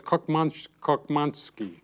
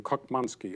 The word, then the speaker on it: Koczmanski: He says pronounce lock, cock. So it's Koczmanski, with a K at the beginning, Koczmanski.